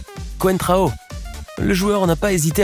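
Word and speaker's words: Coentrão: pas pu s'empêcher de sourire en entendant la prononciation du journaliste. Con Trao, qui est ce joueur ? Quentrao.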